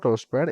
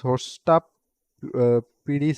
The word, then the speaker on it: hostapd: It's not hostpad, it's hostap pd, something like hosta pd.